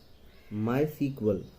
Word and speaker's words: MySQL: It is pronounced as MySQL.